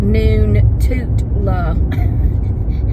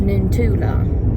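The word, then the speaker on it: Noontootla: creek, and it's spelled Noon-Toot-La. Noon, like lunchtime, noon, toot, la. But it's pronounced Noon-Tula.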